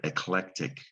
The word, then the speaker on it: eclectic: that's going to be that c is going to be a hard c sound a k sound tick this is the word eclectic tricky word to pronounce